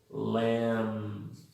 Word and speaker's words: lamb: La 61, AMB, IMB, OMB, UMB, la B es muda. Entonces se pronuncian así. Lamb, no hay B ahí.